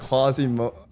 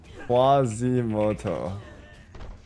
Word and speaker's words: Quasimodo: I'm 29 and look like Quasimodo. Dude. That's insane. Quasimoto. How do you spell that name? That Ronnie had a disc pop and that guy finished. Yeah, it's crazy, bro. Oh, it's Modo, not Moto.